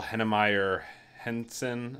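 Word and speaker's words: Heinemeier Hansson: them on Twitter they're very interesting guys Daniel henna Meyer Henson I think is how you pronounce his name he's the guy who developed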